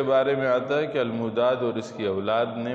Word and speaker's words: الموداد: قحطان، یقطان یا جقطان تینوں ایک ہی نام کے مختلف تلفظ ہیں. تورات میں ہی قحطان کے 13 بیٹے ذکر کیے گئے. پہلا ہے الموداد. الف لام میم واو دال الف دال. الموداد.